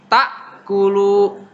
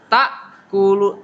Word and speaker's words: تأكلوا: Jadi bacanya ta'kulu, ta'kulu, ta. Jadi kalau dalam ejahan itu, kalau orang paling dasar, ta hamzah sukun fathah ta. Beda dengan ain. Kalau ain jadi ta, ta tuh.